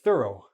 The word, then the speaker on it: thorough: You have to be careful because this is a th, and then this is a ro, thorough. Thorough means very complete, full.